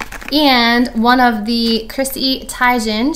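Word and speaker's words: Teigen: The Parisian Lights Shimmering Skin Perfector, and one of the Chrissy Tiegen, she corrected everyone, that's how you say her name, it's not Tiegen, and her Endless Summer Glow Gloss.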